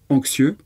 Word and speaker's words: anxieux: Et enfin, anxieux. On entend le son cieux, mais ça s'écrit bien sûr avec un X. Anxieux.